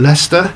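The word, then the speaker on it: Leicester: they were doing a really good job of pronouncing Lester, Derby, Lra, all the typically derby.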